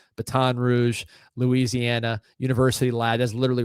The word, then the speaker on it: Baton Rouge: Baton Rouge, Baton Rouge, Louisiana University Lad.